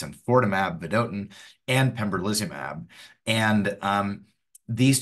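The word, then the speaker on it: enfortumab: It's not infotimab, it's infortimab, vedotin, and pembrolizumab.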